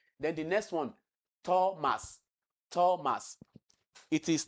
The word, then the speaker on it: Thomas: So it is not Thomas, it is Thomas, like you have in tell.